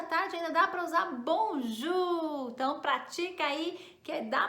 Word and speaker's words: bonjour: o ac que significa isso né vamos lá bonjo muitas pessoas têm tendo do ju como bom